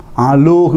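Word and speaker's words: ܐܠܗܝ: Aloh with yod. We will pronounce only aloh. Aloh, there is yod.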